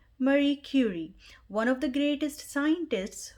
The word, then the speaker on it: Marie Curie: title is marie curie alternate pronunciation for the title is mary curie it's a polish name so i will go with marie curie if you're looking for